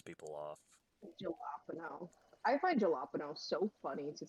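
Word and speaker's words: jalapeño: realize that the um it's a soft J in the Spanish language that makes the H sound. Yep. Which you'd think that I know that because um one of my favorite fruits is the jalapeno.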